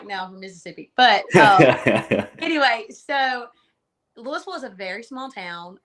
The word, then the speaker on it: Louisville: um there's a lot of different ways people pronounce that it's actually Louisville and a lot of people get it confused